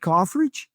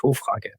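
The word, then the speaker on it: Hoffrage: And Ulrich, how do I pronounce his name? Ulrich Hofrich? No, Ulrich Hofrage. Oh my God, that's going to be so hard for me.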